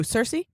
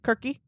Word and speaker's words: Circe: hecy uh the goddess of Witchcraft um who Cersei Cersei yeah Kirky Cersei Kirky uh last name Kirky actually first